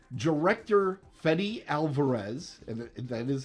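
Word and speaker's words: Fede Álvarez: from shitz Creek and SCTV okay B director fedy Alvarez and that is how it's pronounced fetty Alvarez is currently in Pro production of an alien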